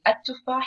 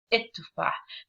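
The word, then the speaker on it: التفاح: The only difference is like instead of saying at-tufah, here it says it-tufah. Do you think there is a difference? La, there is no difference. The only difference is that in the pronunciation, at-tufah, it's like the regular or standard or NSA or Fusha for the word at-tufah.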